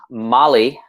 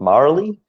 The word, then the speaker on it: Mali: my accent yeah um mali mali like the country bali yes is that right that's right it's yeah mali like i found that um american center like to say my name like marley marley uh marley um like